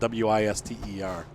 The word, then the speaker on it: Worcester: not even woodster well maybe Worcester some people say what sir but the way that the guys were saying it to me was whist uh like like like how I ever spelled it out Wis ter Oh Gloucester yeah gosslau